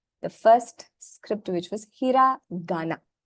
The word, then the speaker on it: hiragana: So instead of saying hirakana, it's easier definitely to say hiragana. It just flows out of your mouth.